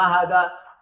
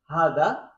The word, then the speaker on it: هذا: When we write it hada, but when we pronounce it, we say hada, okay? Hada, okay? Can you see? Hada is pronounced as hada, but written without the first alif.